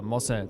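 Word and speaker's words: Moze: Like mozzarella. Moza. That's what people were saying. Say it like mozzarella, they said.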